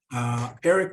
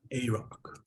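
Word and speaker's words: Arok: Eric Wolvengray. Eric. It's pronounced A-Rock.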